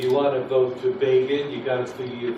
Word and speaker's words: Begin: little box that said begin rhymes with fagin so i did a